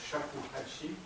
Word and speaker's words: shakuhachi: Ça a donné une flûte qui s'appelle Choba, un pied 8 pouces, et ce qui se prononce en japonais shakuhachi.